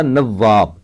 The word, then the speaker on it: نواب: گھما کر پڑھنا ہوگا۔ اس طرح نواب، معمولی طور سے ہجے کریں تو نو واو الف بے ہوگا، لیکن بوجہ تشدید واو کو گھما کر پڑھنا چاہیے۔ جزم یا سکون، جب